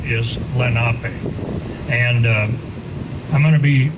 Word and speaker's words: Lenape: earlier our traditional name in our language is lenape many of you all have heard here around here they'll say lenape but the correct pronunciation is lenape it means the original people our name delaware